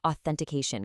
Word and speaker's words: authentication: Finally, since we are living in a zero-trust cybersecurity era, the word authentication gets thrown around daily. It requires a very crisp, clear, voiceless th sound to really sound professional.